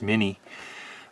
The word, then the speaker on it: Miny: This is a Miny, or a Miny. Some people call it a Miny, but I think it's pronounced Miny.